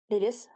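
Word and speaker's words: Lilith: Lilis Lilis, je le prononce à l'anglaise mais pas je le dans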